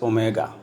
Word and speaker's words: omega: small letter W and it is pronounced as Omega so we are writing